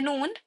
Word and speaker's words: noon: Let's see the noon. You pronounce the noon by using the tip of your tongue. The tip of your tongue. Make this actually touch the roof of your mouth.